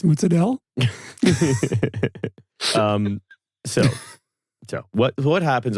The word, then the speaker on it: mozzarella: I'd be like, Sal, it's actually pronounced mozzarella.